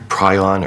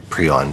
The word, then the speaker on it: prion: about the history of prion or pron people pronounce it differently diseases but the most